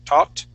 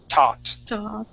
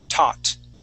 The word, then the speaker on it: taught: as how i believe you're saying it like saying talked hot okay you want to stay talked okay so you want to move your tongue just a little bit more forward and to pronounce that t let's try that okay